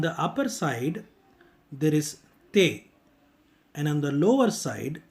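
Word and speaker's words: ت: In order to pronounce Te, you need to place the tip of your tongue behind the upper frontal teeth. Push your tongue to say Te. Please remember that when you start to pronounce Te, you actually start with the Hindi Tamil letter Ta sound or English letter TH sound. But when you are ending up the pronunciation, it needs to end with a slight T sound or Hindi and Tamil letters ta sound.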